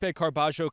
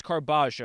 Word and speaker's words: Carballo: I believe it is Carbajio.